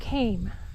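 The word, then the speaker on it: kame: large mound of rocks known as it came that's spelled k-a-m-e and that's what this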